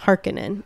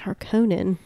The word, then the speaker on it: Harkonnen: weeks ago they say it's supposed to be pronounced harkenin and that's how they pronounce it in this movie because i looked it up i was like i thought it was pronounced harkonnen i think it would be better if it